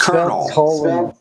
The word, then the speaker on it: Colonel: Like, why did you say that's how it's spelled? You don't know English, It's Colonel.